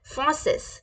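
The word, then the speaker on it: français: कैसे बोलेंगे okay French को फ्रेंच में बोलेंगे फॉसेस कैसे बोलेंगे फॉसेस कैसे बोलेंगे फसेस फसेस फॉसेस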